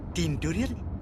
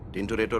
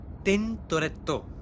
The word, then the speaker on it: Tintoretto: আচ্ছা, টিনটোরিয়ার ইটালিয়ান উচ্চারণ কি মশাই? টিনটোরিয়ার কিছু নেই, টিনটোরেটর আছে। ওই হলো Tintoretto.